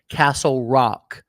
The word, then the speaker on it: Kastlerok: K at the beginning, K at the end. It's Castle, but with a K. Kastlerok.